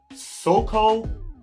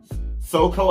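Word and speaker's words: Soco: Soko, I believe that's the correct pronunciation of the restaurant name. You guys can correct me down in the comment section if I'm wrong, but I know it's spelled S-O-C-O.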